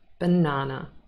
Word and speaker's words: banana: will not recognize it anymore so the correct pronunciation banana banana now let's practice some more and let's